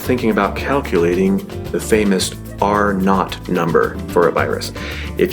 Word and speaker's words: R-naught: Rather, it is the letter R with a little zero by it, and that zero is pronounced not. So R-naught.